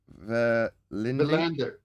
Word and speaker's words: Verlinde: Verlinde.